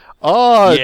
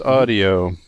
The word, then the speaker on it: Awedio: No, it's pronounced audio. Yeah, it's called audio Awedio. because you're in awe of It's it. Awedio, pronounced audio.